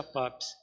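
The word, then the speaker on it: Papus: de lagier iniciador de papos se escreve papos mas pronuncia papes em 1882 na sociedade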